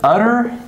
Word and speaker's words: utter: What's the difference? We have a different phoneme here, okay? This is d, a D sound.